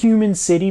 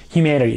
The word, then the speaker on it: Human(c)ity: channel is called humanity now it looks like it's human city but he did say on the live streams that it's pronounced humanity so it's a pretty